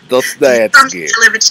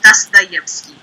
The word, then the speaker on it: Dostoevsky: But the name that you were trying to pronounce is Dostoevsky. Dostoevsky. Dostoevsky. Dostoevsky. See, I can't just like say it though. Like. But if you want to put umph, put it where the syllable actually is.